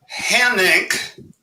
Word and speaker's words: Hanink: Hanink is not a household name, but it rhymes with my financial condition, red ink.